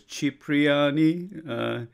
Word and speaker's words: Cipriani: The correct pronunciation, I am told, is Cipriani.